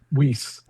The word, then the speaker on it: Wiese: Or Wise? How do you say it? Wiese. Wiese. It's Wiese.